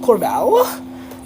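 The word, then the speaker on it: Corvallis: it I don't know corval corval is how it's pronounced it's a town Oregon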